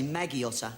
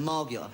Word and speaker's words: Margiotta: We always got to have a nickname in the army, and they can never pronounce my surname. They always say Maggiotta instead of Margiotta.